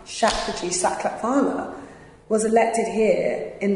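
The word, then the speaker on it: Shapurji Saklatvala: the big thing do you understand you know shaq g sucks let me say his name right shakti sakla farmer was elected here in like in the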